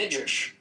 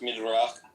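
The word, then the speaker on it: Midrash: It's in the midish. It's in the midish. Okay. But like what what's up with like black people being cursed? Um it's actually pronounced midra.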